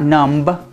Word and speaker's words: numb: you need to because these words we do not say the bee and if you're learning English you may read the B and want to pronounce it but we are not